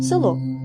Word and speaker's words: село: нечіткими у ненаголошеній позиції як наприклад слово село це слово ми пишемо з літерою е а вимовляємо і чуємо ненаголошений звук е з наближенням до и село А іноді одні звуки